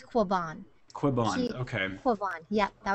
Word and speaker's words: Quiban: And Maria, would you actually help me pronounce your last name? Sure. It's Quiban. Quiban. Okay. Quiban. Yeah, that was pretty good. That was good. Thank you. I mean, being from Texas, I would naturally say Quiban, but, you know, I just wanted to make